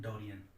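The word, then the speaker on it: Darién: Colombia के just ऊपर आप यहाँ देखेंगे तो यहाँ आपको देखने को मिलेगी डोरियन की खाड़ी, डोरियन, इसको ठीक से प्रोनाउंस कर लेंगे, इसको बोलेंगे हम डोरियन।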